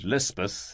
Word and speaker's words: Lispeth: The Kotgarth chaplain christened her Elizabeth, and Lispeth is the hill or Pahari pronunciation.